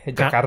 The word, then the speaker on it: Jakarta: Notice the rolling of the R. Yes, that's how they say it. Do they? Jakarta.